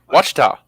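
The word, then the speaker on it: Ouachita: Washita.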